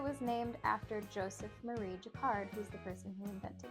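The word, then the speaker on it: Jacquard: And it was named after Joseph Marie Jakard, who's the person who invented it. I actually had to look up how to say this word because I thought it was yakard.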